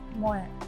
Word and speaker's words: MUET: MUET. Is this pronounces it again? MUET, M-U-E-T, Malaysian University English Test.